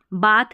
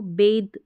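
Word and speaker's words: bathe: ई तो वैसे भी साइलेंट है, लेकिन आपको ध्यान रखना है, जैसे इसको हम बाथ नहीं पढ़ेंगे, हम इसको बेद द पढ़ेंगे, यानी टी एच का द साउंड रहेगा।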